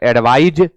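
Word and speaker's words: advise: noun होता है एडवाइस उच्चारण में भी अंतर है एडवाइज और एडवाइस तू कहा की भाई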